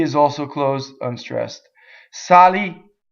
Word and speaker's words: salì: So here we have an ultimate accent, right? It's a little rarer. There are a lot of words that end on the last syllable, right? But the ones that end on the penultimate syllable are the most common in Italian. Okay, but here's one, salì. Going on, well, we said